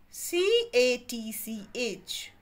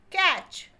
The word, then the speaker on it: catch: the spellings of catch c a t c h catch c a t c h catch here's t is silent t is sleeping c a d c